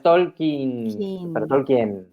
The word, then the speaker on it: Tolkien: tolin Claro tol claro el conte está diciendo es tolkin y no sería dos I es una I larga ser una es una